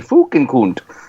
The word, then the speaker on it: Fukenkunt: And the name is like spelled phonetically, but it's Fukenkunt. And the thing is, it's not a bad word. It's Koont, Fukenkunt.